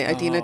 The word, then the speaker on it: Adeena: My name rhymes with Tahina, so it's kind of my Adeena Tahina.